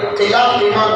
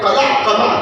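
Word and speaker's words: قلع قمع: کہہ رہے تھے کہ قلعہ قمع کر دیا، اس کا صحیح تلفظ ہے قلعہ قمع کر دیا۔ تو مسلم کش فسادات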